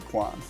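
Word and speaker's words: Quan: Kiwi Kwan.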